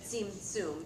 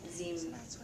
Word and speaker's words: Zimzum: kind of acknowledge that Barnett Newman was not calling it Tzimtzum. He's calling it Zimzum.